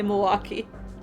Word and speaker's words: Milwaukee: pretzels I never noticed we say Milwaukee yeah someone pointed that out to me in college they're like you know it's not spelled that way and I was like